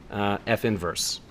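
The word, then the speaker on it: f⁻¹: is 1 over 3 the name for the compositional inverse of F is f with a negative 1 superscript so that's its name and it's pronounced F inverse alright so here's a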